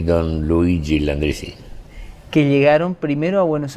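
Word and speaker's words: Luigi Landriscina: Una vida que nos lleva a pronunciar tu nombre, Luis Landricina, como Luigi Landricina, ¿no? Así figura. Mi nombre original es Luigi, que en argentino o en español o castellano, como lo quieras llamar, es Luis.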